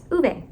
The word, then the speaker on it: Ove: to say his name I've been saying it wrong the whole time it's uve I didn't listen long